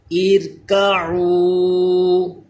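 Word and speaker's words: ارْكَعُوا: پہلے زیر آ گیا۔ ارکعوا، یہ را بھی باریک کیونکہ زیر آ گیا ہے۔ رب ارحمہما، رب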